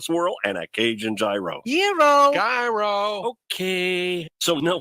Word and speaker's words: gyro: in line at Papa Gyros I order the gyro Supreme suddenly the lady behind me chimes in it's pronounced Euro then the fow behind her says it's a gyro I turn my back